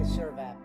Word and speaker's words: Sirvap: No, it's Sirvap. You guys told me the right pronunciation.